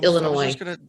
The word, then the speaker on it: Illinois: breyer born in peoria illinois united states it's there's you don't pronounce the s at the end it's just illinois hence hence my look